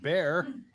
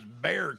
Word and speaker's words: Bexar: Behar county is pronounced bare the x is silent Bexar County pronounced by the locals is Bear County no it's bad